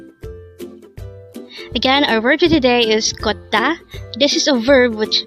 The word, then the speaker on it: 걷다: again our work today is Kota this is a verb which means to walk